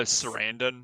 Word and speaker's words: Sarandon: say his last name it's chris like uh sarandon is it okay it is surrounded i wasn't i'm pretty sure that's how it